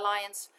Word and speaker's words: Lian: If you want to reference it, you can say that, you know, we're using Lian's. We pronounce my name Lian, right? Lian. So my family pronounces it as Lian.